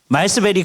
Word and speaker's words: 말스베리: 그랬더니 마스버리라고 드리기도 해요. 근데 그 버리가 베리를 빨리 할 때의 버리 같아요. 그래서 한번 요요 캠페인을 하고 이제 시작을 하겠습니다. 말스베리 그는 누구인가?